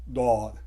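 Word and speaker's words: ض: जो साउंड निकालता है ये डी की साउंड निकालता है, दौद।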